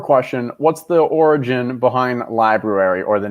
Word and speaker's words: Libruary: So I was combining February and library, and it just Libruary. And it just sounds like someone's trying to like correct someone on the pronunciation of library. It's just like, no, it's Libruary. It's like the nuclear version of library.